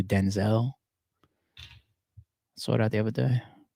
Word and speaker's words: Denzel: It says his name is actually pronounced Dezel, but because him and his father have the same name, his mother then said, "I'm just gonna call you Denzel."